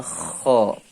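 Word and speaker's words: خ: H ya Ini namanya Kho ini namanya Ho cara membacanya seperti kita mengeluarkan dahak yang ada di dalam mulut kita ya cara bacanya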